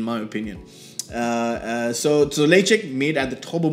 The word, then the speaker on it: Ledaig: opinion uh so so laycheck made at the top of mori distillery and if you didn't know it's pronounced late check not ladag as i used to call it the first few years